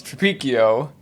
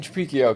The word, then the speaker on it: Tripicchio: but the you know in the Old Country it's tripikio and I just grew up with the Americanized version and I keep I keep saying I'm gonna start saying tropicio because it's just like spelled like Pinocchio and it's just easier for people to get but then I always